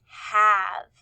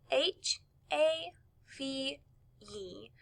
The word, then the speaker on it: have: really hear the e so we hear the ah and the e is silent so let's write the